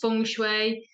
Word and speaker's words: Feng: I like yeah it's spelled Fen but it's pronounced fun but it's one of them then for things